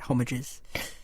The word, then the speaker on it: Homages: I think the idea is that it's an English Homages.